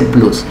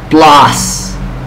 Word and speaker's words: plus: más para los compas como dicen plus no se dice plus plas plas to us esto significa